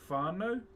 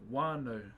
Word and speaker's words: whānau: So there's other tribes that'll say whānau, like W-H. And there's other tribes that'll say wānau, so they drop the W or the H.